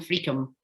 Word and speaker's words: Friockheim: Could you tell us how to pronounce it? It's Arbroath West, Letham and Freakham.